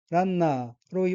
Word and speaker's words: ランナー: 다음에 카타카나 단어는 철자를 하나씩 읽으면 라, 응, 나, 작은 표시이고 다시 라와 응은 합쳐서 란으로 발음합니다. 따라서 단어 전체는 란나로 발음하고 액센트는 첫 음절인 라에 있으며 란나는 러너, 주자를 뜻합니다.